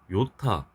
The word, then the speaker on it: 요타: 10의 24승 기호 Y 요타 10의 21승 Z로 쓰고 Z타라고 읽습니다.